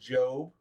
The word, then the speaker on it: Job: And uh his name is pronounced Job.